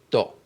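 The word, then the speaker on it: ط: Celle-là c'est to. T to.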